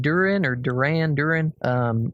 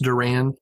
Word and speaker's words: Duran: Yeah, so I'm going to assume that his name is pronounced Duran, like the band, right?